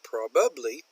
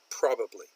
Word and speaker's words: probably: she does it again she gets this the emphasis on the wrong part probably it's pronounced probably probably finally Korea is probably